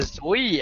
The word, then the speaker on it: Zoe: All right, HTC launched their Zoe app. At least that's how I assume you pronounce Zoe. Yeah. It's Zoe.